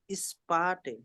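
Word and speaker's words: später: বিদা horn choose বিজবা স্পাটে ইস্পেটা স্পে এটাকে এ উচ্চারণ করবে ইংলিশে যেরকম এ আছে এ বি সি ডি ওরকম স্পে বলুন স্পে স্পেটা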